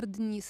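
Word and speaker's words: Денис: Actually, Ukrainian pronunciation of this name will be Denis. It's more stronger and soft. So something like this.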